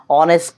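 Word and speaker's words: honest: এসেছি হি ইজ অ্যান অনেস্ট ম্যান উনি একজন সত্যবাদী মানুষ শি হি ইজ অ্যান অনেস্ট ম্যান এই দেখতে পাচ্ছেন অনেস্ট শব্দটির মধ্যে এইচ হচ্ছে সাইলেন্ট অনুচ্চারিত এইজন্য এর পূর্বে এন বসেছে এভাবে আরো অনেক শব্দ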